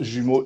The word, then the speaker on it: Jumos: Donc, tu es responsable de la compagnie Jumeaux Immigration, J-U-M-O-S, mais ça se prononce Jumeaux Immigration Canada.